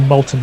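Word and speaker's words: Multan: elephants yes there's always i like the molten sultans it rhymes it even rhymes if you pronounce it properly very good worst team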